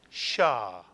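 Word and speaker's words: שַׁ: If you see a syllable with a patach under a Shin, the syllable is pronounced, reading down, Shah.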